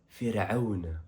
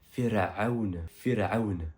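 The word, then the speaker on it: فرعون: Ensuite, on retrouve le mot pharaon qui est répété 74 fois et qui se prononce faoun en arabe. Répète après moi, c'est avec un ain de la lettre ainun. Firaoun.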